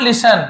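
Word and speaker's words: listen: बट the king, लेकिन राजा, would not लिसन, लिसन यहाँ पे टी को नहीं पढ़ना, लिसन पढ़ना, लेकिन राजा ने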